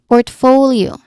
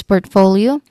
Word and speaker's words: portfolio: Now, the stress is on the second syllable for portfolio.